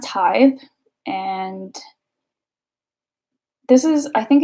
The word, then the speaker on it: Tithe: of them don't know how to say tithe like I I can't tell you how many of them say teeth or Tift tip actually is the most common one I think but yeah it's pronounced tithe and this is I